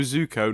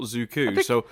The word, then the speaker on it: Zuko: I mean, he called Iroh Ira, but he did at least call Zuko Zuko, not Zuku. I think I got him right last week a few times. Iroh, Zuko, and Momo.